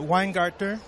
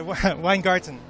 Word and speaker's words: Weingarten: conference in Washington DC I'm with Randy uh wein gter did I say it right sorry okay and okay weine garton yes okay she's the president of the American